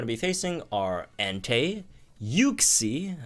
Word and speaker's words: Uxie: Anyway, so this set of Legendary Gauntlet units we're going to be facing are Entei, Uxie, as it's pronounced, I think, which sounds weird, but you know.